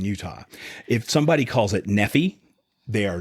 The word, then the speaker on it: Nephi: Some people pronounce it Nephi. That's how you can tell if somebody's from Utah or not.